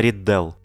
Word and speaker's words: Ридделл: Именно ударение на Риддел.